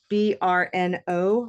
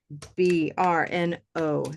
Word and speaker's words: Brno: Okay, so I will say it in the Czech way. Yeah, it's Brno. R. Brno. It's not like R, but it's like R. You have to roll your tongue.